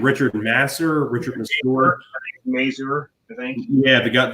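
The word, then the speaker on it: Richard Masur: do you say that guy's name Richard Nasser Richard sport Mazur thank you yeah they got the dad who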